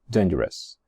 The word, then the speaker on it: dangerous: Se escribe dangerous, y ya os he dicho muchas veces que todas las palabras en inglés que acaban en ous, o por ejemplo, famous, adventurous, dangerous, no se dicen ous, suenan s. So I say dangerous, dangerous objects, dangerous objects.